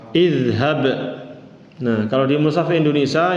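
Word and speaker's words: اذهب: Jadi yang beda kalau dia fathah aja, maka dia kasrah. Jadi bacanya gimana? Idhab.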